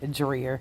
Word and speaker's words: Dreher: And I also found out the pronunciation of the island is actually dreer.